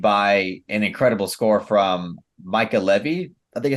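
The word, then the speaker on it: Mica Levi: not only accompanied by an incredible score from Micah Levy, I think it's how you Michael pronounce Levy, it, yeah. Mika Levy.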